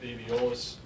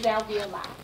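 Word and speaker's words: alveoli: the ventilation that has nothing to do with avolis is that right it's not avolis it's Alvi Alvi yes and that's not Kathy's Way that's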